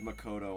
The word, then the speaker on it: Makoto: houses um lakota the way she just said makoto oh my god at least she knows how to pronounce it that's good um um listen you